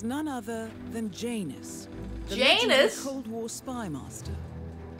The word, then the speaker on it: Janus: The Janus? The Cold War spy master. A KGB senior officer and head of the 6th Column. Gotta remember to pronounce the J.